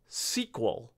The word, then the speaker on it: SQL: And it's worth knowing that some folks pronounce SQL SQL.